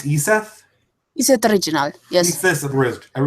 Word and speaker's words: Iseth: Hello, I think this is broadcasting now, so I'm here with, is your name pronounced Iseth?